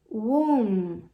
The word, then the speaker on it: womb: Então, basicamente, você tem womb, womb. Carol, é só isso para pronunciar ventre?